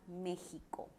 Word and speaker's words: México: Se representa para sílabas que van a sonar a ja, je, ji, jo, ju. La grafía fácilmente será la J. En algunas palabras será la G. Y en otras puede ser hasta la X, como la palabra México.